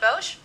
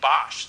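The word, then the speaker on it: Boesch: know when you people it's actually Bosch see people see the Boe and they say they think this is the name Edition but it's actually Brennan Bosch and I like Brennan Bosch a lot hitting 380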